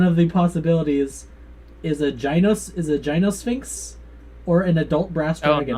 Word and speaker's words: Gynosphinx: Technically, it is pronounced Gynosphinx, but yeah.